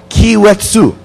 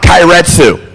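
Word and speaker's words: Keiretsu: We didn't have this Paketo Kiwetsu. See, I have to pronounce this correctly, because if I don't, every time this very friendly Japanese person walks up and says, it's not Kairetsu.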